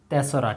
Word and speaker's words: তেসরা: এটাকে উচ্চারণ করতে হয় তেসরা।